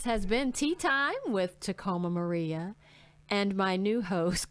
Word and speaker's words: Tacomba: let's find out who tacoma is tacomba i hate when people say yeah yeah the bee is silent like comb you comb your hair with you don't say